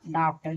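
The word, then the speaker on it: doctor: डॉक्टर यानी डी ओ सी टी ओ आर डॉक्टर। देखिए ओ के बाद आर है तो यहां ओ का उच्चारण अ यानी डॉक्टर।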